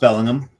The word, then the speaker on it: Bellingham: Um and it's it's pronounced Bellingham. Belling Bellingham.